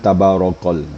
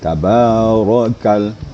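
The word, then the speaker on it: تبارك: harus hati-hati dalam membacanya jadi tabarokal jangan tabarokal ya tabarakal gitu jadi hati-hati seali kemudian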